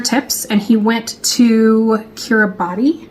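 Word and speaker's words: Kiribati: But, um his channel is called Trainer Tips and he went to Kiraabati. How do you pronounce it? He pronounces it Kiraabos, but I believe on an island.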